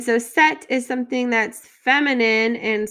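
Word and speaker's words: cette: vowel next we have set with two t's and an e and so set is something that's feminine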